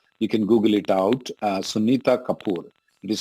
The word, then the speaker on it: Sunita: name sunita kapoor you can google it out sunita kapoor it is spelled as s-u-n-i-t-a kapoor our office doesn't do